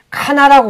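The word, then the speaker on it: Qana: 정말 더 가까운 성경의 가나라고 보죠. 근데 이번에 질문하신 것처럼 이 레바논 지역에도 가나가 있어요. 뭐 정확한 발음으로는 이제 카나라고 그러는데 그쪽에 가보면 자기네 지역에 있는 가나가 예수님이 기적을 베푼 곳이다.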